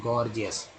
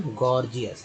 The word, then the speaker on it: gorgeous: GORGEOUS, पहला जी ग के रूप में, दूसरा जी ज के रूप में, क्या उच्चारण करेंगे, गॉर्जियस। क्या करेंगे दोस्तों उच्चारण, गॉर्जियस, है ना, गॉर्जियस।